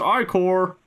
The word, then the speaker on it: ichor: It's pronounced ichor. Oh. Okay. Use your I-Core wisely.